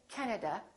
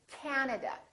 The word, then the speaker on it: Canada: and also Three A's this time the first syllable is stressed this time this a is really long so don't say Canada say Canada Canada so you need to